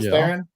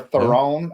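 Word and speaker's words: Theron: Charlie Theren or Throne, how everybody's been trying to pronounce it. We always get it wrong. And she said it's actually throne, like something you sit on.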